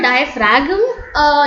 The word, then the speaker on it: diaphragm: diaphragm it's not a diaphragm not the g is actually a silent so yes i will mark it as g is i'm sorry for my handwriting i usually don't write well in mouse g is silent guys okay so the